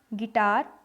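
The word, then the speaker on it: guitar: गिटार, इसमें भी देखिए ग के ऊपर ई की मात्रा है, गिटार, मतलब हम इसको उच्चारण करते हैं, तो यहाँ यू जो है वो साइलेंट है।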